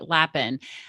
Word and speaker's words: Lapin: And I have with me Lapin.